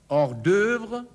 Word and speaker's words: hors d'œuvre: Le hors-d'œuvre, die Vorspeise. Nicht hors d'œuvre, sondern hors d'œuvre. À vous. Hors d'œuvre. Hors d'œuvre. O, E zusammengeschrieben, plus U wird ausgesprochen Ö, Ö, Ö.